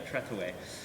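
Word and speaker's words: Trethewey: of the poet Trey help me with the pronunciation oh treway treway yeah treway um it's been really inspiring and we worked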